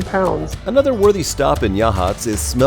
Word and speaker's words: Yachats: up the coast is well wait wait tell me how do you say it gadgets it is yeah chips right yatchets it's actually Yachats I think our first